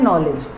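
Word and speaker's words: knowledge: knife ऐसे ही नॉलेज नॉलेज में भी के साइलेंट होता है तो उसको बोलते हैं बार उसको प्रोनाउंस करते हैं नॉलेज the knife dropped from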